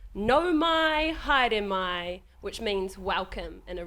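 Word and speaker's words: Nau mai, haere mai: Your pronunciation's amazing. Okay, great. I'm going to do it. No mai, haere mai. No mai, haere mai.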